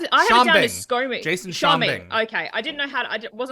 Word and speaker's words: Schombing: Jason Schombing. Okay, I didn't know I wasn't quite sure how to pronounce it.